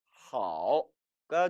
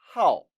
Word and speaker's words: 好: 好 이처럼 사성어로도 발음된다는 사실입니다. 好 삼성어로 발음될 땐 좋다, 안녕하다, 건강하다라는 뜻이었는데 이제 사성어로 발음될 때는 동사가 된다라는 점 주의하시기 바랍니다.